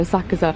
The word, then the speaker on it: Asakusa: place that is just west of Asakusa or Asakusa. I always forget because the Japanese people don't pronounce the U.